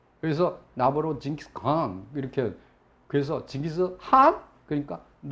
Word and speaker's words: 징기스칸: 근데 이 몽골 가면은요 징기스칸 이렇게 발음하면은 싫어해요. 그래서 나보러 징기스칸 이렇게. 그래서 징기스한 그러니까 이 콧소리를 해요. 징기스한. 이 칸도 아니고 한도 아니고 좀 애매하죠. 그래서 징기스한 이렇게 발음을 하래요.